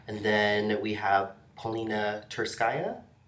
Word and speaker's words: Tsurskaya: And then we have Polina Tsurskaya. Am I saying it right? Maybe. I don't know. I'll have to ask my Russian friend. Okay, yes. It's like Tsurskaya.